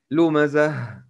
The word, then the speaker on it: لمزة: We say لمزة and we must pronounce تاء مربوطة ها when we stop on it.